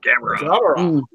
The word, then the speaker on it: Gamera: Gamera.